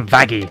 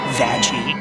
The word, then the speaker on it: Vaggie: Let's move on to Vaggie.